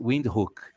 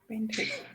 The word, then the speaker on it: Windhoek: And Human just texted me saying it's pronounced Windhoek. Windhoek. Windhoek. Oh yeah, so pronounced Windhoek. Very good to know. So now I know a little bit more or a little less. Yes, German.